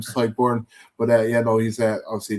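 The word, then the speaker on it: Tadhg Beirne: And then Ty Burn is obviously kind of the the star man. Ty Burn is say not the Alex Bar pronunciation of that name. Ty Burn, but yeah know he's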